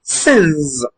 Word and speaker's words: sins: Usually, when ns ends a word, the ns produces a z sound. So therefore, the word is pronounced sins.